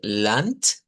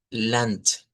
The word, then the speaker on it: Land: Y allí es donde, por ejemplo, en la palabra que les dije de lant, que se escribe con d al final, pero se pronuncia con t.